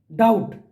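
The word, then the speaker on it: doubt: उसमें सेकंड क्या है डाउट तो इसमें बी साइलेंट है थर्ड देखिए वॉक इसमें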